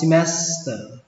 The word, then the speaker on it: semester: Đọc là semester. Âm E ở đây đọc là âm I. Âm E thứ hai đọc là âm E. Còn ở âm thứ tiếp theo này đọc là ở.